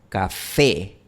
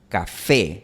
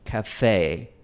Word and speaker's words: café: Por ejemplo, compara la palabra española café, café. No hay ningún diptongo al final. Pero si yo lo pronuncio al estilo inglés sería café, café. Hay un ligero glide, una ligera deslizante al final. Y en español no tenemos eso.